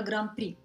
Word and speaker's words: Гран-при: Вы видите, как пишется по-французски, а в связи с особенностями французского произношения «д» и «х» в конце данных слов не читаются. Поэтому и в русском языке мы знаем выражение «гран-при».